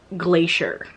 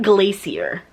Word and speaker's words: glacier: And I was like, but it's pronounced glacier, not glacier.